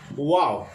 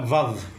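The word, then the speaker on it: וו: Ito ay wow. Wow. Okay. Kailang binibigkis ito ng isa, vav. Vav. Vav. Pero ito ay binabanggit natin ng wow.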